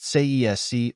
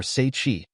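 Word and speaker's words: Tsaesci: That race was known as the Tsesi and, pronounced Sesc or Seichi, that can be described as the Serpent Folk.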